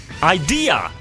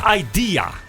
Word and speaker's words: IDEA: Ik zeg, is het nou ID of is het nou Idea? Ja. Maar het is Idea. Nou, zo spreek je het eigenlijk wel uit, ja. Idea. Maar je kan ook volgens mij wel gewoon zeggen ID.